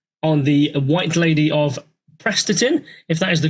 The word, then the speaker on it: Prestatyn: many books too on the White Lady of Prestatyn, if that is the correct way of how I pronounce that. And there's comments. Prestatyn.